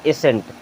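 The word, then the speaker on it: ascent: यहाँ देखें, एस के बाद में सी आ रहा है, सी को आप साइलेंट कर दीजिए। अब इसे क्या पढ़ेंगे, SENT, सेंट। शुरू में लगा है ए, तो क्या हो जाएगा, एसेंट।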